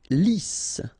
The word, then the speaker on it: lisse: Lisse. Double S here, so it's really a strong S. Lisse. Okay, don't insist on the final E. Lisse.